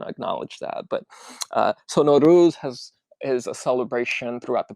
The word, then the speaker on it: Nowruz: I asked Aresh if I was pronouncing Nowruz right, and he was just very kind, and he was like, "Oh no, there's different ways of pronouncing it, but Nowruz is the proper way."